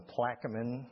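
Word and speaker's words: Plaquemines: This is a liqufied natural gas plant that was installed in Plaamin. That's the way you pronounce that word. Plaeamin, Louisiana.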